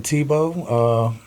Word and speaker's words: Thibeau: or infamously known as Tebow the. Yeah. From Baton Rouge, Louisiana. Where did that name come from? Well, Tebow's my last name, actually. Yeah. So, I just shortened it up. It's spelled Thibeau.